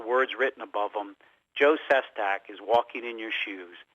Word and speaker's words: Sestak: And Sestak is spelled S like the first letter in Sam, Sestak. Sest like tree, AK.